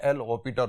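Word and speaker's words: L'Hôpital: ऐसे इसके अंदर साइलेंट है एल ऑपिटर रूल। अब ये एल ऑपिटर रूल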